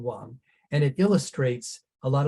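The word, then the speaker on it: 王: So this character is second tone Wang, and it illustrates a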